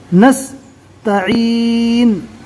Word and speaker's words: نستعین: کو پڑھا رہے ہیں۔ نستعین، نون کے اوپر جو پیش ہے رکنے کی حالت میں جزم سے بدل جائے گا۔ یہاں پر تشدید ہے،